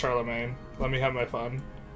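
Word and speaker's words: Charlemagne: to receive that from charlam Mong I know it's pronounced Charlamagne let me have my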